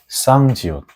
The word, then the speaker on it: 쌍지읒: Okay, move on to the next one, which is 쌍지옷. 쌍지옷 is a sound similar to 지옷, but you should pause your breaths beforehand like 치옷, but it has to be much stronger.